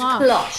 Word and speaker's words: cloche: make to up the your own internet, it's pronunciations. It's cloche.